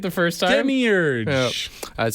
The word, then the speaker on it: Demiurge: pronunciation right. Demiurge. Okay, you got it right the first time. Demiurge.